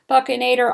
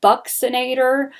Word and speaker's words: buccinator: okay the the bucknaderm the buccinator muscle it's pronounced buccinator i've i've heard them say buccinator buccinator it sounds better to me i like saying buccinator um so the buccinator muscle is this little